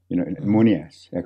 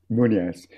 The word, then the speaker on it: Moonias: Munias, we call them. Anyway, and even that I spell Moony, which is Mooney, and ass, A-S-S. Normally it's spelled in English, Moonias.